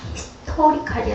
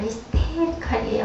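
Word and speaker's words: hysterical: 그래서 거기 그 목사님 네 분들이 많이 참석을 했었는데 한 목사님이 조금 민망해하면서 목사님 그거는요 히스토리칼이 아니라 히스테리칼이에요.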